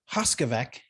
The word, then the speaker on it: Hoskovec: again i'm scott anderson today i'm with hoskovec did i say it right you did you